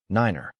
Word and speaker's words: niner: The N in the call sign represents the phonetic word November and each digit is pronounced individually using the corresponding word in the phonetic alphabet 1 6 niner.